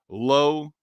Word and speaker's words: Lowe: Brandon Lau rhymes with now, followed with a 2-out, 3-run home run to end it.